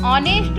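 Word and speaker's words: honest: अब यहाँ पे पहला वर्ड तो एच है, एच हमारा कॉन्सोनेंट्स है, लेकिन जब हम इसको बोलते हैं, उच्चारण करते हैं, तो उसमें हमारा उच्चारण क्या निकलता है? ऑनेस्ट, ऑ, अर्थात जो ओ है हमारा वॉवेल का उच्चारण है, ए ई आई ओ यू, तो ओ जो है, जो उच्चारण निकल रहा है वो वॉवेल का है, इसीलिए इसके आगे भी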